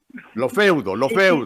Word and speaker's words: Lofeudo: Lofeudo, Sí, el acento en la Lofeudo.